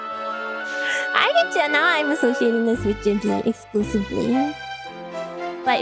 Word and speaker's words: Ghibli: That is how you say Ghibli, yeah, see?